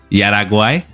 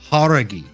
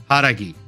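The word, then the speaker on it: Jauregui: Please forgive me, my girl Yasmin Yaraguay. That is a very valiant effort. That is how I used to pronounce it. But I found out recently it is actually Yasmin Haragi. Haragi.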